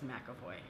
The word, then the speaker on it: McAvoy: it James macavoy makoy it's spelled macavoy but everyone says McAvoy names help he puts